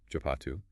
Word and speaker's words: Shapatu: This term pronounced chapatu refers to a Mesopotamian full moon festival that is remarkably closely related to Shabbat.